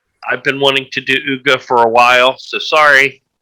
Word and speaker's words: Ugh!: Uga, I believe it's pronounced UGH.